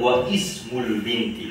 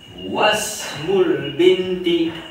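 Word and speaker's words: واسم البنت: Donc, quand il vient au milieu, il drop, il tombe, nous pas prononce hamzatul wasl. Donc, nous pas dire wa ismul binti.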